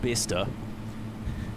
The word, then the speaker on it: Bicester: It's pronounced Bicester.